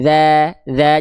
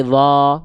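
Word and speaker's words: ذ: Bacanya za, jangan sampai dha, enggak, tapi za gitu.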